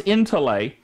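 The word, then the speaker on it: ἐντολή: let's look at that word commandment it is in to lay in the Greek it's transliterated en tol e e in t OU le with a little accent mark over the top and it's pronounced in to lay it means injunction that is an authoritative prescription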